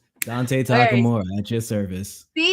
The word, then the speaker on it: Takamura: How would you pronounce it? Uh, Takamora. Hey, you're right on the money. Oh, I did. Yeah. Dante Takamura at your service.